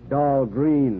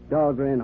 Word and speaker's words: Dahlgren: Of course, they mispronounce it down there. Dahlgren, they say, but still named after me. But at Annapolis, the midshipman's armory, they call that Dahlgren Hall. It's pronounced right, Annapolis.